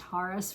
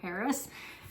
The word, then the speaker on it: Harris: about like Arabs and in Arabic her name would be pronounced harus rather than Harris so yeah but um